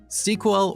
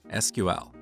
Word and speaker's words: SQL: As you talk to different people, you will hear 2 different pronunciations of SQL: SQL or SQL. What is the correct way? Well, it depends on who you ask.